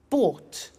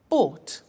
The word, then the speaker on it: bought: to the pronunciation by bought you notice that o u g HT is pronounced ought bu bought come came do did